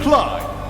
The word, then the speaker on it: Clide: Rhymes with Tide. TSA Clide.